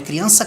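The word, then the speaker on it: crianza: bem aqui um negócio a palavra criança vem de criação é criança com z mas a pronúncia é com s ela vem de criação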